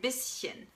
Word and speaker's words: bisschen: When the S is in one syllable and the CH is in another syllable, then you don't say sh, but you actually say sh. For example, in ein bisschen, ein bisschen.